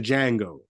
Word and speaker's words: Django: like it's like the Django the D is silent right so like um